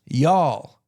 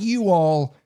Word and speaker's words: y'all: respect you in return it's pronounced y'all not you all y'all now different parts